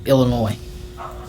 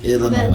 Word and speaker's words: Illinois: Illinois. The S is silent, baby.